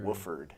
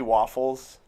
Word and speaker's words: Wofford: Wofford? Wofford. That doesn't make any sense. Do you ever get mad at people Yes. for pronouncing it? Yes. What is wrong with you? Yeah. Do Especially waffles.